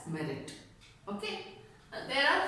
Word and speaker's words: meruit: Then suit for quantum merit. Merit, please note the spelling MERUIT, but we pronounce it as merit.